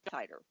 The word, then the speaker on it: Titor: was John John Titor how are you pronounce it I say tighter he came amongst when